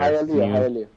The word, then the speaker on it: Hialeah: I don't want to mispronounce the name of your city there. Hialeah.